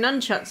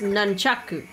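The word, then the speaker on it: nunchaku: I'm all state and track you just swing nunchucks around in your little karate class it's pronounced nanaku and it's not karate it's okan Kaba karate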